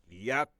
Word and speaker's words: Yahweh: But he said the only name that he going to respond to is the four letters, which we pronounce Yahweh.